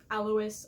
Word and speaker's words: Alois: Alois, I know, is how it's supposed to be pronounced.